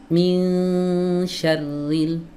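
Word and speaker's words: مِنْ شَرِّ: Mi ini telat yang benar min syarril min. Jangan m. Nah, enggak boleh diayun, Teman-teman. Jadi meskipun ngayunnya itu hanya sedikit, enggak boleh. Di sini bukan tempatnya mengayun bacaan ya.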